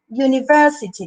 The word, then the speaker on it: university: vocal pura por ejemplo la palabra university la university digo yo si no digo university university porque tenemos palabras que empiezan con un y se pronuncian y umbrella por ejemplo university se simboliza con una jota el sonido en la fonética sí pero es como un diptongo como si yo dijera yo en este caso